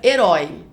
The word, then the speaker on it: herói: Então veja, olha aí pra palavra herói. Herói é uma palavra oxítona que tem a última sílaba mais forte.